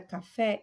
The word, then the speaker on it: café: Na palavra café, eu vou ter aí uma sílaba tônica e é o fé, é a última sílaba, ok?